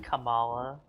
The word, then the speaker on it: Kamala: Yeah, I've said Camilla a million times too because like, it just, you know, I mean, it's just like, She's not easier gonna to hear me say her name, so it's Yeah. fine. But I'm pretty sure it's supposed to be Kamala.